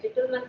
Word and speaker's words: Gitelman: Right, Gitelman syndrome it's pronounced as.